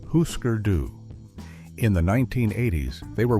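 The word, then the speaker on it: Hüsker Dü: The band is Husker Doo, pronounced Husker Doo.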